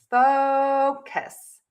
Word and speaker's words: focus: Long vowel in the O, fo. So you want to really move your mouth and you want to make that vowel long. And you want to make sure that you stress that syllable. That means it is going to be louder, longer, higher in pitch. Syllable number 2 will be shorter, softer, and lower in pitch.